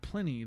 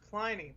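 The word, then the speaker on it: Pliny: Supplanting Plenty, the elder from California's Russian River Brewing that had claimed the top spot for the previous eight years. What was that? It's pronounced Ply. Ply the Elder.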